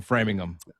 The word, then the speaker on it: Framingham: You grew up in Framingham.